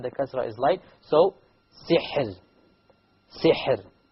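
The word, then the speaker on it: سحر: So, sihr. Sihr. Okay, so the ra is silent. Before it is silent, before it is a kasra, therefore the ra will be light.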